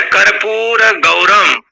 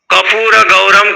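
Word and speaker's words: कर्पूरगौरम: वो जैसे सिखाता है कर्पूर गौरम, ये शुद्ध उच्चारण यदि करना सिखाया तो शुद्ध बोलेगा। और विशेष करके पंजाबियों में कपूर गौरम कर देते हैं, कर्पूर गौरम नहीं कहते हैं, कपूर गौरम।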